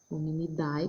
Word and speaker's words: Hominidae: Hominidae, que a gente sempre pronuncia hominid.